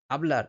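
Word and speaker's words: hablar: সবার প্রথম যে রুল স্প্যানিশ ভাষায় যদি কোন শব্দে এইচ থাকে সেটা শব্দের শুরুতেই হোক বা শব্দের মাঝখানেই হোক সেই এইচ এর উচ্চারণ কিন্তু হয় না। এইচ কিন্তু অনুচ্চারিত থাকে সবসময়। যেমন ওলা। ওলা মানে হচ্ছে হ্যালো। ওতেল। ওতেল মানে হচ্ছে হোটেল। আবলার। আবলার মানে হচ্ছে কথা বলা।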